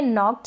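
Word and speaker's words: knocked: फिर ये है नॉक्ड, यहाँ पर के साइलेंट है।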